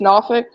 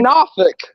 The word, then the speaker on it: Norfolk: ain't from here is the way they pronounce Norfolk if they say Norfolk yeah Norfolk no it's not Norfolk sorry Norfolk it's Norfolk Virginia I keep saying not